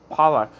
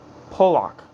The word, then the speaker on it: Pollock: quote poock and quote was in fact called poock or pulock but the names can admittedly be difficult to distinguish in American pronunciation for poock the man